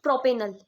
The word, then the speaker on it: propenal: l e l l we will pronounce this pronounce it as not L it's right propenal propenal no no propenal right pentanol butanal okay